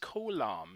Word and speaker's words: Coulomb: force should be founded by the French physicist Coulomb is how you pronounce that delightfully French name and he's got